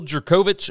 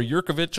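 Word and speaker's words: Jurkovec: won this game 48-27 phil jerkovich or yurkovich or however you want to say his name i believe it's jerkovich he is back he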